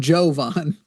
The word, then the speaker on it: Jovan: Now I'm not Vince Vaughn. I'm Jovon.